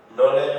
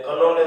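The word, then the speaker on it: knowledge: નોલેજ હોય તો એને કનોલેજ ન વંચાય.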